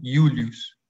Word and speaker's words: Julius: Las consonantes son todas iguales con algunas excepciones, como es el caso de, bueno, la J se pronuncia como J, es decir, como acá el ejemplo, Julius, como si fuera Y, ¿no?